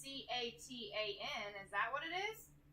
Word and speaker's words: Catan: It's like, so it's spelled Catan but with a C, so it's Catan.